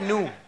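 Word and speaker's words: GNU: that first three letters GN U ganu ganu ganu is a nice word I like new just new with the silent G I like the silent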